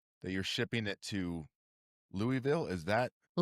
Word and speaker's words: Louisville: You can you can say you can say Louisville. You just cannot say you can't say Lewisville. But if you want to be correct, just say it like you have marshmallow in your mouth.